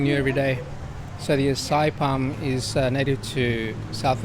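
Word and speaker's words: açaí: popular so I'm glad I got the pronunciation right it's asai I used to call them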